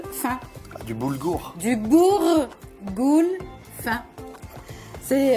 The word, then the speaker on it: boulgour: Et c'est quoi ça C'est du bourgoule fin. du boulgour? Du bourgoule fin. C'est Ça se prononce comme ça.